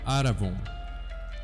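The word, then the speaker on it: ἀρραβών: E a segunda palavra aqui é a palavra penor, que se pronuncia aravon.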